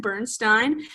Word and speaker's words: Bernstein: Yeah, so the composer of this show is Leonard Bernstein, whose name I completely mispronounced in the last episode. So apologies for that, but it's Leonard Bernstein.